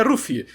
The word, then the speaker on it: Luffy: chamou Luffy de Rod em japonês a pronúncia de Luffy é ruffy então Rod é uma